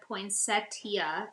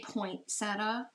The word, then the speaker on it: poinsettia: some very simple veins Deborah said poin Setia is the English American pronunciation for anyone interested or even cares we all care of course we do um what's the other pronunciation well people say Point seta a lot okay well yeah a lot of people just say Point seta okay and remember with